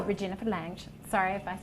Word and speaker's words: Regina Phalange: Cut straight Actually, I read that wrong. It's Regina P.H.A. Lang. Regina Phalange, we love her. Oh, Regina Phalange.